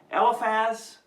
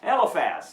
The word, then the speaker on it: Eliphaz: Okay, the friends, Eliphaz, Bildad, and Zophar. At least that's the way I pronounce them.